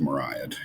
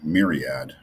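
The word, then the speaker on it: myriad: ancient Greek for 10,000 I think that's pronounced mariad it sounds better than m myad it's mariad um it means 10,000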